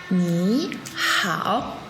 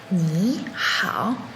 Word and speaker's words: 你好: « Ni hao ». Je répète une dernière fois. « Ni hao ». Très bien. Rappelez-vous que Ni hao est essentiellement dans un cadre formel.